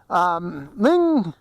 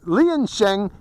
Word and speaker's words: Liansheng: I just got recently this is the ling I'm sorry you pronounce lien Sheng LS 114 now the